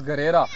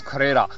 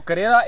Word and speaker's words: Garera: So beyond these two villages there is Garera. In our language it is pronounced as Kharera. So Kharera is another small village in which at large Sayyids are existing.